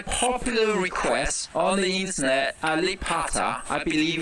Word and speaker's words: Alibata: It is Ba. He's freaking out that he says Pa every time. It clearly is a B. It's Alibata, right? You pronounce a B like a P?